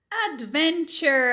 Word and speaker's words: adventure: A gente morre de vontade de pronunciar esse E. É claro, ele tá ali, a gente acha que as letras estão ali para serem pronunciadas, né?